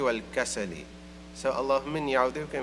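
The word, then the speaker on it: والكسل: I was saying wal-ajzi wal-kasli, but it's actually wal-ajzi wal-kasali.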